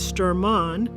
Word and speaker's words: Sturman: Among these men was a young man whose name we now pronounce Stormont.